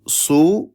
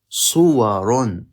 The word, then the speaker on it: صور: We say صورٌ. صور. صور. صورة is a picture. صور is, or صور are pictures. صور are pictures. Picture. صورة.